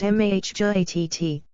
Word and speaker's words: Mahjarrat: The mahjarrat, pronounced mahjarrat, which means children of Mah, are a warlike, very powerful and long-lived tribe.